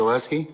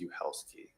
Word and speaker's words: Oleski: My name is pronounced Uhelski.